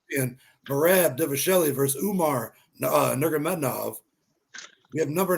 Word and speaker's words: Nurmagomedov: Umar Nurmagomedov.